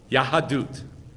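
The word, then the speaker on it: יהדות: Yahadut. Say Yahadut. Yahadut. The whole purpose of the redemption was to get Yahadut, to get Torah.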